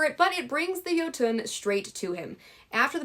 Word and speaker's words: Jötunn: But I believe it is pronounced Jötunn.